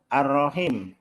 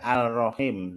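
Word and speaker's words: الرحيم: Kemudian ada lagi ar-rahim, baca al-rahim ya. Nah itu adalah salah, nanti kan caranya itu.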